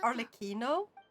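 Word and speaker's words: Arlecchino: It's pronounced Arleino. Yeah, but I'm going to say Arcino anyway.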